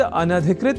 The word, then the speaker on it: अनधिकृत: तो यह शब्द अनधिकृत इस रूप में ही है सर्वथा शुद्ध।